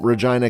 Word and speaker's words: Regina: assembly and states that she is from regina canada but pronounces it to rhyme with vagina the classmates mock her